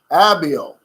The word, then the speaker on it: Abiel: Name pronounced like, okay, Ariel. Okay. Abiel, but with a B.